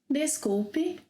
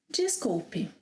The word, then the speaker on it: desculpe: When I speak a little faster, I make it 'djees'; more slowly, 'des'. For example, I could say ‘desculpe’, ‘jeesculpe’.